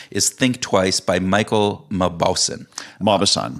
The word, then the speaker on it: Mauboussin: My next book, and I'm going to probably mispronounce the author's name, and I apologize for that, is Think Twice by Michael Mauboussin. Mauboussin.